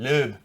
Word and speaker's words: Loeb: Sebastian Lobe. That's how you pronounce it, by the way.